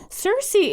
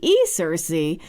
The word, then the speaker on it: Cersei: Cersei is pronounced like Circe, Cersei, who was a nymph, enchantress, and sorceress in Greek mythology.